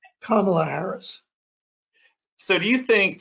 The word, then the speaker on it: Kamala: I mean, if you call her, put her name with the wrong syllable, you're accused of being a racist. So it's Kamala Harris.